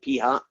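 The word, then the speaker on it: p̂: probably haven't seen yet it's p with a little hat on it that's how you say it p hat and that's typically the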